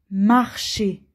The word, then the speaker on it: marcher: J'aime marcher. ER, on a dit, ça fait et. ER, et. J'aime marcher. J'aime marcher. C'est la même chose. Marcher, marcher. On prononce de la même façon.